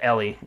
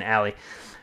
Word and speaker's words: Ellie: of it with with ellie i said it right that time i would keep saying ally cool guys thanks for